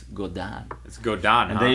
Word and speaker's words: Godin: some guy said like i can't believe you said golden guitar when it's go down let's go down and